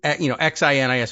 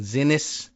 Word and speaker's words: Xinis: Judge Boasberg, before Judge, I got a pronunciation tip on the judge in Maryland, Sinis. It's, Xinis, and we've been saying Zinnis, maybe.